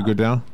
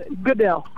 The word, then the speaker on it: Goodell: Roger Goodell? Goodell. Goodell, yeah.